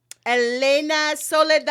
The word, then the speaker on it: Elena Soledad: Cousins, please welcome Elena Solidad. Applause. Yeah. Perfect for the Spanish. Okay. Elena Soladad.